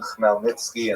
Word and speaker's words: Khmelnytsky: You may have seen his name spelled Chmeil, something like that, Khmelnytsky, something like that. That's just the Polish spelling. The pronunciation is definitely Bogdan Khmelnytsky, and this is the transliterated version from Ukrainian.